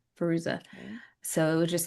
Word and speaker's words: Fairuza: Fairuza.